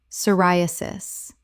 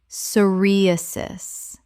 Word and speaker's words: psoriasis: anesthetic anesthetic Word 58, psoriasis. Common mispronunciation, soriasis. Correct pronunciation, psoriasis. The p is completely silent. Four syllables with stress on the second.